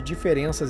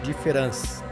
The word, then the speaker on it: différance: Notem que eu pronuncio da mesma forma que diferença, mas ele a escreve com a letra A em vez da letra Eia. No francês, a diferença é inaudível, só se percebe ao escrever.